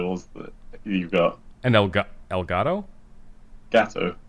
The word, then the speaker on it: Elgato: I love how when I pronounced it in Spanish, I pronounced the T, but when I said it with my normal accent, it sounds like a D.